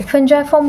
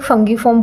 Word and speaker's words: fungiform: नाउ द फंजाइफॉर्म papillae, फंजाइफॉर्म बोलते हैं कुछ लोग, फंगीफॉर्म बोलते हैं, तो जैसे भी प्रोनाउंस करो।